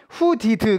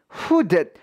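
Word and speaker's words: hooded: 여러분들이 알아 주셔야 되겠습니다 단어 끝에 위치한 요런 d 발음은 요 그 발음을 내지 않고요 숏 받침과 같은 소리를 사실 내요 해서 후디드 가 아니라 후대 후 뎃 같은 발음이 나는 게 맞다는 거 기억을 해 주시고 그리고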